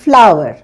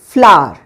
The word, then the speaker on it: flour: এটার প্রোনাউন্সিয়েশন দু রকম হয়। আমেরিকান ইংলিশে এটাকে বলে ফ্লাওয়ার, ফ্লাওয়ার, আর ব্রিটিশ ইংলিশে এটাকে বলে ফ্লাওয়ার, ফ্লাওয়ার। ঠিক আছে? তো তোমাদের যেটা ইচ্ছা তোমরা সেটা বলতে পারো, কোনোটাই ভুল নয়।